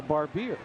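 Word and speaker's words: Barbir: to win that from barbier and yes they have a barbier and a barber it was grayson barber that got the assist on the rojay smith goal but danny barbier b-a-r-b-i-r for barbier fun with pronunciations and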